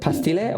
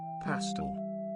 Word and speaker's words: Pastel: So, is it Pastille or just Pastel? Pastel. Pastel, man. I guess we'll go with Pastel.